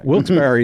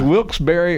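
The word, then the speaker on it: Wilkes-Barre: a redneck southern thing wils Barry is always a good one to stump people so is wilberry or wils bar or people say it all way all different ways I say wilberry yeah I've heard it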